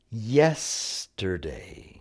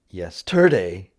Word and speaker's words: yesterday: Yesterday. It's not yesterday, yesterday.